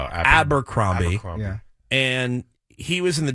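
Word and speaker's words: Abercrombie: the dressing room of I always say it wrong abber cromie abber I say amber amber cromie abber cromie and he was in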